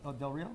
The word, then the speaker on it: Del Rio: It's And how do you pronounce the name? D-E-R, Del Rio?